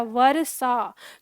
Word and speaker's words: वर्षा: स्वर लगा दें तो ये कैसे बोला जाएगा? वर्षा। तो ये पूरा र अ हो जाएगा। तो ये वर्षा ऐसे बोला जाएगा। लेकिन हम बोलते हैं क्या? वर्षा। तो र बहुत थोड़ा सा बोल रहे हैं तो थोड़ा सा बोल रहे हैं क्योंकि उसका अपना कोई स्वर नहीं है।